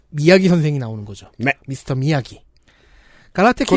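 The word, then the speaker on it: Miyagi: 미스터 미야기. 가라테 키드. 그것도 못 읽어서 마야기라고 읽어요.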